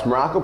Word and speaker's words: Maroko: I am Coach Maroko, pronounced just like the country, spelled absolutely, totally, completely, and endlessly nothing like it.